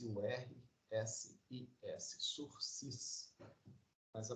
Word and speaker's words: sursis: da pena além chamada surfes web S URSS sursis mas a pronúncia fala no próximo o celular se se